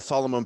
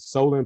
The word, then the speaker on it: Solon: of your two linebacker seniors uh nick and solomon page how they're doing uh this practices uh what your assessment of them um solomon uh solon i gotta make sure i pronounce his name right solan page has uh done a great job he's